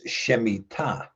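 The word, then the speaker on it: שמיטה: Because the word is shemita. So generally generally speaking in Hebrew you the the emphasis is going to be on the ultimate syllable.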